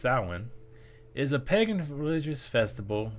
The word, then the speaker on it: Samhain: read through this thing sin a GIC word pronounced sin is a pagan religious Festival originating from an